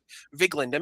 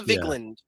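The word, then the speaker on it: Vigeland: So, also, have you seen the clip of Emma Vigiland? Is it Vigiland? Is that how you pronounce it? The Majority Report. Vigand. Emma Vigland from the Majority Report.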